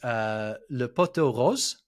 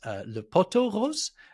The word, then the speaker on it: le pot aux roses: But a lot of the time it gets misheard or missaid as le poteau rose, and that means the pink pole instead.